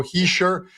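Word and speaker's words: Hischier: in bunches is Nico hisher uh pronounced they write that guys there's no R in there Nico he sure and he's plus 155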